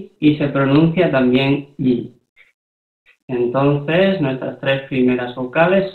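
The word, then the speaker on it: 이: Entonces, circulito más I, se lee simplemente I, el circulito es mudo, no se pronuncia, y esto es una palabra real, como he dicho.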